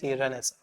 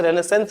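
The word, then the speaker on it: Renaissance: ये स्पेलिंग ध्यान रखो, RENAI, RENAI रेनेसा। कुछ लोग इसे रेनेसेंस बोल देते हैं, लेकिन ये प्रोनाउंसिएशन लिटरेचर में चलता है रेनेसा।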